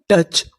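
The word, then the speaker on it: touch: हमारा साइलेंट है, इसका हम लोग यहाँ पर उच्चारण नहीं करेंगे। सी एच चा, अन टच।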